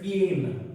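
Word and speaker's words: Payne: Please don't call it एज प्यानी, इट इज पेन.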